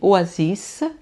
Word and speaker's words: oasis: Então vai ser oasissa. Eu pronuncio o S excepcionalmente.